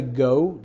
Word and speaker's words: Geaux: our football teams and how we say go g Au u x absolutely one of our